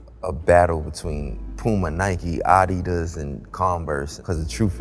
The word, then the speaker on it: adidas: think that's already been you actually pronounce adidas correctly you uneducated no i'm saying he's turkish bro he's saying it like he's turkish it's adidas bro and nike right i